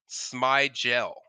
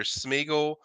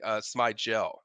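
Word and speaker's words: Smigiel: a very liable Source it's Brady smel not how it looks it's like it's some people think it's either smigle or SM Smigel but it's actually smel you know so that's how you pronounce it if people that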